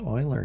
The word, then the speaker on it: Euler: Hello and welcome back for section 1.3 on Venn and Euler diagrams. So Euler spelled a little bit different than the way it's pronounced, but it's a last name just like John Venn.